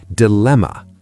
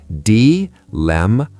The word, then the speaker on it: dilemma: Dilemma. Slow. D-lem-a.